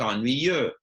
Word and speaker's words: ennuyeux: livre, or les livres sont ennuyeux, with an X at the end, which you don't pronounce.